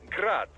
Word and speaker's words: Grad: the Ukrainian way but most in the business pronounce it as grad Russian style crazy to think I'd